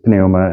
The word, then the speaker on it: pneuma: You can say pneuma, but that's really clunky, so it's almost always going to come out like pneuma, even though that's a diphthong. Pneuma, okay. Because in Greek, you do pronounce the P, the pi.